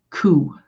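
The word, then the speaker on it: 苦: The number 9 is also considered unlucky because it is sometimes pronounced the same as the word for suffering, which is ku, Ku.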